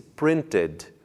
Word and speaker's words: printed: o verbo print imprimir no passado pronuncia-se printed também pronunciando o som da vogal e i printed 10